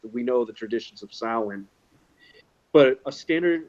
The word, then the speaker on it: Samhain: difference between the Christian version of Halloween and Samhain. Sam Hain. I always find it cute when someone actually pronounces it Sam Hain.